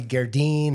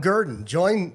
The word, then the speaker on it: Gerdin: I thought it might be Gerdine or something like Yeah, real no, fancy. Just garden, but spelled bad. Garden. Poorly spelled garden. Yeah, exactly. Gerdin.